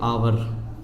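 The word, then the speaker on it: hour: इसमें क्या होता है और जैसे अवर लेकिन हम इसको क्या बोलना है इसको हिंदी बोलते हैं घंटा अवर का मतलब घंटा होता है तो यह इसका मतलब क्या है यह अवर है ठीक है अब कुछ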